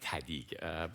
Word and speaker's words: TEDid: Said you have to say it like TEDid, but we host this